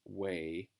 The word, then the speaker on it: weigh: silent K there, scissors weigh, and also this is a tricky enough word here because it's got that A sound that's got a GH in it, so don't worry about